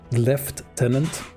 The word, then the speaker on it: lieutenant: the Americas you say Lieutenant lieutenant in the on the island that is England they they say lieutenant left tenant and these do say